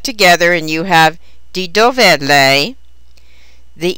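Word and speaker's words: dov'è: an apostrophe is inserted while the single word dove is stressed on the first syllable the combined word dovet is stressed on the last syllable the response to d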